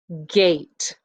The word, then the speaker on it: gate: it would be a gate and again the e is silent now that's just one way